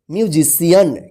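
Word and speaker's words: musician: एन इसको क्या पढ़ेंगे म्यूजिशियन क्या पढ़ेंगे म्यूजिशियन म्यूजिशियन देखिए यहां पे सी के बाद आई ए आया है तो सी का स उच्चारण ठीक है देखिए यहां पे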